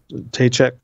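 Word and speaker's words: Ptacek: you know, shortly after that, I read, Tom Tachek. Is that Tachek. How you pronounce his name? Tom Tachek.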